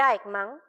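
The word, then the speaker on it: Eichmann: Como en el caso de Aikan, me dicen mis colegas que así se pronuncia, no hay maldad entendida como odio, como fanatismo o maldad en un sentido radical.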